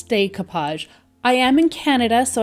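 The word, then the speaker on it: découpage: why I pronounce it the way I do so I've made it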